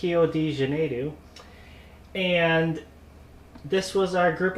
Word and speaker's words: Rio de Janeiro: So we were, if you remember, the Olympics were in Rio de Janeiro, as we pronounce it here in the U.S. Down there in Brazil, it's Rio de Janeiro.